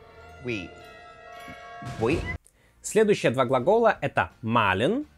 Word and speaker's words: mahlen: А вот глагол malen надо произносить с долгим «а», чтобы вас правильно поняли.